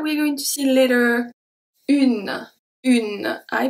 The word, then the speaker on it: une: Est une journée. Et make a very specific sound that we're going to see later. Une. Une. I pronounce the U, I pronounce the N. I don't pronounce the E.